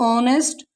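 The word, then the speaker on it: honest: इसे पढ़ेंगे honour, H ओ एन एस टी, ओ से पहले यहाँ भी एच है तो ऑनेस्ट, आवर।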